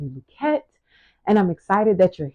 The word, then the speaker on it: Luckett: So you can say the Luckett Paradigm, but I started to do the real pronunciation of the name because the E was dropped. So the name is really, I think it has French origins, pretty positive. So it's really pronounced Luckett.